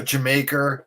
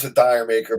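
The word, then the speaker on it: D'yer Mak'er: really got sick of that one um uh jamaica which is that's how they pronounce it not everybody i used to pronounce the dire maker but like you know robert plan always says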